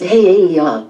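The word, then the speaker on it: He'eia: Hiia, pronounced Heiaia, State Park.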